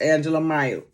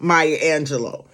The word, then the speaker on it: Maya Angelou: And I might be saying her name wrong. You know who I'm talking about. Maya Angelou. You know, y'all know who I'm talking about. I said it wrong, but y'all know who I'm talking about.